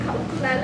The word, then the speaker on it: Kaulukuki: You know, a lot of people mispronounce their last name, Kaulukuki.